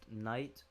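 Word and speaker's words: knight: Night with a K, K-N-I-G-H-T.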